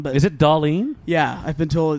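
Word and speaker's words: Dahlén: with dolene I still want to call him Doan but is it dollene yeah I've been told it's Jonathan Dalene is more correct pronunciation darling there you go now I got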